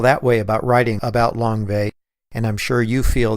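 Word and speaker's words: Lang Vei: Langvay is two words, spelled Langvei, but pronounced Langvay, and it was the name of the U.S.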